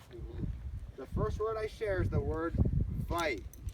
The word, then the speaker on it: wai: The first word I share is the word vai. W-A-I, pronounced like a V.